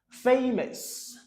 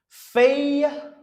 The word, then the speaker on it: famous: Famous. Famous. You see? The OUS. OK? OUS là, le prononce comme S.